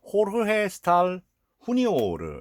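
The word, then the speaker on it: Jorge Stahl Jr.: 그리고 여기 이제 그 촬영 감독은 호르헤 스탈 후니오르, 이제 스페인어는 이제 J 발음을 히읗 발음을 하니까요.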